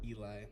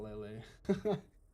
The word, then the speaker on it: Eli: know telling me pronunciations it's Eli not Lele Eli BBL Eli see but